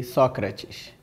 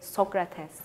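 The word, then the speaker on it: Sócrates: more all the same in Brazil we say socres in Turkey we call it Socrates in the United States we say Socrates and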